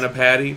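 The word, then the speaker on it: Anni-Padda: Is that how you say it? Anapati? Yes. Anapati.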